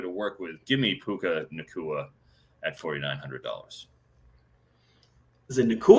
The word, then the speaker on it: Puka Nacua: So yeah, it is Puka Nacua. I guarantee you on that one. I'm not lobbing my particular pronunciation here.